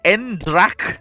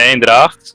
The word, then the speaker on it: Eendracht: Endrak class. You know, the ships that became the. Oh, you mean the Eendracht?